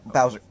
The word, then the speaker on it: Bowser: some Boozer okay we're going to find some Boozer Bowser yeah you got say boo you say it